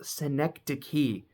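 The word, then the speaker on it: Synecdoche: spelled like I felt like I was probably pronouncing it wrong but synecd key huh but now that I know the truth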